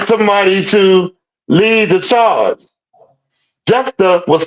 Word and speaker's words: Jephthah: Jabba, I think it's Jabba. Is it Jabba? I spell it. Jephthah out of the land of Tob. Jephthah.